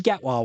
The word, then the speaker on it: Gatwa: Pronounced Shooty Gatwa, Wayne.